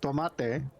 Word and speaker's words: tomate: I do believe that tomato coming from Latin America, pronounced tomate, means tomato.